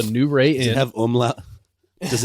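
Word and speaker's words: Nuwray Inn: new rey inn now it's spelled n-u-w-r-a-y-i-n-n it's the new ray and you have um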